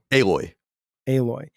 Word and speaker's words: Aloy: Aloy.